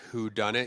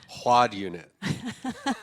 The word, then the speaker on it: whodunit: great whodunit she said one of her friends pronounced it quad unit because it's spelled w-h-o-d-u-n-i-t and she wasn't a